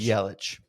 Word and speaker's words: Yelich: Or wait, it says with the CH sound similar to the name Bubich. Yelich.